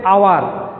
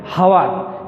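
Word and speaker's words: hour: হাউস হচ্ছে অনেস্ট ম্যান, হনেস্ট ম্যান বলা যাবে না। উন্ডা বলা যাবে না, বলতে হবে হুন্ডা। এটা বলতে হবে আওয়ার, কিন্তু কখনোই বলবে না হাওয়ার। এই সাইলেন্ট, এখানে এই সাইলেন্ট, এখানে এই সাইলেন্ট।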